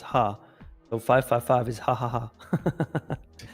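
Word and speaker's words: ห้า: Jean says five in Thai is pronounced ha.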